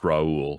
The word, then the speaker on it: Raul: It's pronounced Raul, but that's fine.